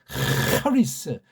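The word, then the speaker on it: χάρις: 이 발음도 헤세드, 하리스.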